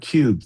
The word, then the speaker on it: QUB: So, hope that hope that gets to your question, but that's that's what cube is all about. Yeah, I should have pronounced it cube.